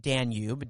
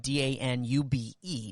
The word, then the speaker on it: Danube: right there on the river danube so it's pronounced danube d-a-n-u-b-e danube and it splits the city right in